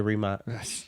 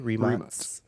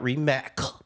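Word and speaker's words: Rimac: say what am I going to say the remat NAA I was I'm glad you said it cuz I would butcher the name so his name is m mate M mate remat not remac yeah not remac it's not there's no there's no C in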